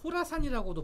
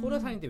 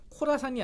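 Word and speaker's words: Khorasan: 그래서 아프간에 진출해서 아까 말씀드린 ISK, IS 호라산이라고도 부르는데 호라산인데 왜 K냐? 네. 이게 KHORASN 그러니까 코라산이 아니고 철자는 K가 앞에 붙었는데 K가 묵음이 되면서 호라산이라고 그래요.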